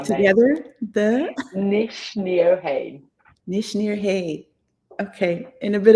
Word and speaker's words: Nc'nean: And let's pronounce the name together. The Nc'nean.